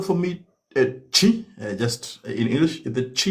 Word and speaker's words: Twi: Could you spell for me chi just in English?